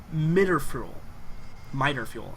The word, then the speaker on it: Mitterfuel: Mitterfuel, actually, is how that's pronounced.